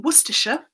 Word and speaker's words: Worcestershire: I live in Worcestershire in central England, and yes, that is how you pronounce the source.